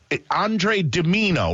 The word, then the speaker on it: Andre DiMino: Yeah, it's it's Andre Dimino, right? Am I pronouncing it right?